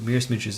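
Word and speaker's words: Mierce Miniatures: well I would buy everything from Mir Miniatures Mir Miniatures is a company in the UK it's spelled MI i e r c e they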